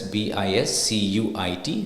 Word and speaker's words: biscuit: silent there likewise with biscuit biscuit so it's even though it's written as b i s c UI T the U is silent here it's pronounced as biscuit now the word Dam